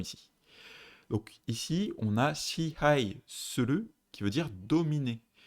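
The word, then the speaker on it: 支配: Que vous l'avez, c'est shihai.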